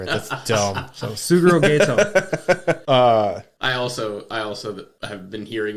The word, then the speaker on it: Geto: I've listened to a couple other people talk, and some people called it ghetto, like The ghetto. like they lived in the ghetto, but it's Gato.